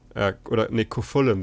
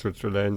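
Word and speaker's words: Cú Chulainn: Kofullen wird es, glaube ich, sogar ausgesprochen. Kofullen. Nicht Kutschelane, sondern Kofullen wird, glaube ich, sein Name tatsächlich ausgesprochen. Wenn ich es gerade richtig im Kopf habe.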